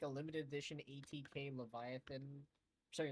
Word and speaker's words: Leviathan: a limited edition ATK Leviathan, sorry Leviathan one. Yeah, it's actually not pronounced Leviathan. It's actually pronounced Leviathan, which is insane.